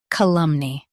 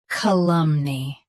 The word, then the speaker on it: calumny: Columni. Both US and UK have the same pronunciation of this word. Stress lum. Keep knee light and clear. Columni. Columni. Stress lum. Keep knee light and clear.